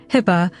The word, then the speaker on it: HIPAA: If I asked for too much, she'd say, "HIPAA," pronouncing it like hippo with no O, and I'd tease her and say, "HPA, Mom."